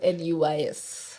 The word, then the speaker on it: Van Nuys: a place called Van Nuys. So not spelled N-I-S-E, it's spelled N-U-Y-S. Oh, okay. All right, your brain is like, nice. Yeah. Nice. Nuys. Nuys.